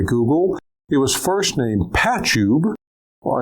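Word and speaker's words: Pachube: It was first named Patchube. Well, it's actually pronounced patchbay but spelled patch tube and was later acquired by log me in and renamed.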